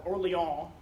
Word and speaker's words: Orléans: And so we come to the Siege of Orleans, or Orléans. I'm very anglicized. I'm not very good at pronouncing French words, so I'm going to anglicize everything here.